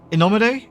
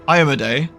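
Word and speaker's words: Iomedae: Inomade? I always pronounce this wrong. Even though they said it like 50 billion times. Sorry, that's my bad. Iomade. There we go, Iomade.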